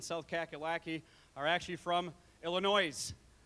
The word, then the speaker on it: Illinois: I'm told the folks that are traveling from California and South Kakalaki are actually from Illinois, right? I hear the people from Illinois get really mad when I pronounce the S.